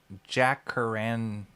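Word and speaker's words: jacaranda: It's pronounced jackaran. Jackaranders. Jackaranders. Oh, okay. We used to have beautiful jackaranda.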